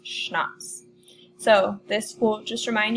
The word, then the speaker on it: CHNOPS: this is on the schnapps that's how you pronounce this down here CH n 0 PS schnapps so this will just